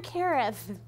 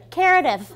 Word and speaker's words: Karith: I started telling people my name was like Karen and Meredith put together so they would say it properly. Yeah, guess what 4 out of 5 brainiacs would call me? Karith.